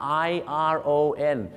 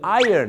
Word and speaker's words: iron: เป็น เสียง คล้าย ๆ กับ คำ นี้ ครับ i r o n ก็ คือ Iron นั่น เอง ครับ แต่ ไม่ ต้อง